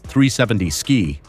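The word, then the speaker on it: 370Zki: The 370Z Key, pronounced 370 Ski.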